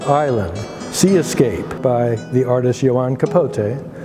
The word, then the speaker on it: See-Escape: work is called Island Sea Escape by the artist Yan Capote who lives today in Havana and C is spelled SE as if you can observe Escape but clearly the Escape